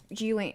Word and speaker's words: Ghislaine: So, you're Epstein, and you're making, like, a client list, and Ghislaine... Is that how you say her name, Ghislaine?